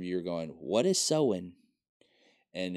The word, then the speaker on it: Samhain: It's really pronounced sew-in. Sew-in. And I'm even guessing at making sure that's the correct pronunciation. Because I've also heard Scandinavian pronunciation of it as Sylvain.